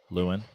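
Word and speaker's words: Lewan: dad is called out by Paige spiranac Taylor lawn how's it pronounced Lewin Taylor Lewin and ESPN's Ashley Brewer for sliding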